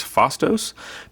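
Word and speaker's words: Phastos: box which i believe this character's name is fostos p h a p-h-a-s-t-o-s great minifigure great look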